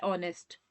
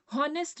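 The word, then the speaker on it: honest: अब वैसे ही है ऑनेस्ट। हॉनेस्ट नहीं पढ़ना है।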